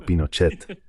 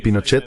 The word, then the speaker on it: Pinochet: ya sabes, al estilo Pinochet. ¿Cómo se dice eso en Brasil? ¿Dicen Pinochet o Pinochet? Pinochet. ¿Pinochet con una A? Sí. Hay gente que me ha dicho que es Pinochet. Like an A?